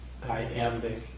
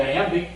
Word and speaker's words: iamb: Yeah, it's two syllables with the accent on the second, right?